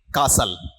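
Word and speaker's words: castle: is famous blank Bhatner कासल ठीक है शुद्ध उच्चारण कासल है ये टी क्या है साइलेंट है कासल का मतलब क्या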